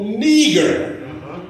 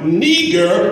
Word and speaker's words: Niger: Now, what's interesting about this is the Strong's Dictionary, it pronounces this word Niger. But in the Castlewood's Dictionary, it is pronounced Niger. Now, for the sake of clarity, just suppose it is pronounced Niger. Well, not nigger, but Niger, which is its Latin derivative. Again, the Latin derivative is Niger, which means black.